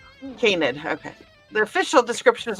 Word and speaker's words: canid: Canid. Canid.